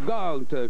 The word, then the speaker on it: Gault: Gault, qu'on prononce comme ça, John Gault.